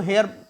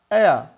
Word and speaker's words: heir: HEIR देखा जाए तो हेयर बोलते हैं बट हेयर नहीं होता, that is एयर, एयर, एयर, एयर नहीं बोलेंगे, एयर, एयर। र साइलेंट तो नहीं एग्जैक्टली बट बहुत हल्का सा प्रोनाउंस करना है।